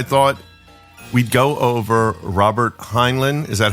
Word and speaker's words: Heinlein: this week I thought we'd go over Robert heinan is that how you say it yes H